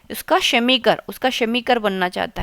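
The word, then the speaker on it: Chemiker: Semi और शेमीकर शेमीकर pronunciation पे भी आप थोड़ा सा ध्यान दीजिए ना।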